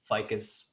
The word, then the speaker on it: Ficus: NGO in Peru called Ficus Peru, if I'm pronouncing everything correctly. Could we talk a little bit about that? Yeah, we pronounce it in Spanish, Ficus, but yeah.